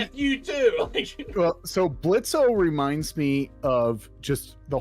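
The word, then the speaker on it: Blitzø: And that's how I feel with Blitzo. Except the last 2 episodes of this show, I will say, is a totally like a big character build for Blitzo. Blitz, the O is silent, but the build of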